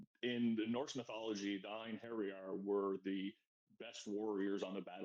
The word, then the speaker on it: Einherjar: I'm the co-founder of Galactic Mining Club and the founder of Einherjar, Guardians of Asgard.